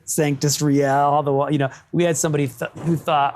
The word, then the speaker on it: Sanctus Real: So what we really ended up with, funny enough, was a Latin word pronounced just like white American kids would say it. And then an English word that could be Latin. So you get Sanctus Real, Sanctus Real, Sanctus Real.